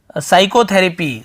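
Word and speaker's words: psychotherapy: प्रकार से देखिए यहां पर लिखा हुआ है साइकोथैरेपी साइकोथैरेपी यह पीस लें यहां पर सिक्यूरिटी चैनल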